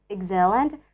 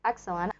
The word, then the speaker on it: excellent: for example in burma this word is pronounced as excellent stressing the second syllable which is totally incorrect and when i heard the correct pronunciation of it which is excellent while i was watching